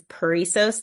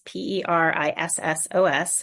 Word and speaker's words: Perissos: So my therapy practice is Perisos therapy. It's Perissos, which is super hard to spell and pronounce.